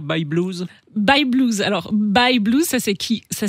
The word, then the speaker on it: Bye Blues: pouvez nous redire by blues by blues alors by blues ça c'est qui ça s'écrit by y e B l u e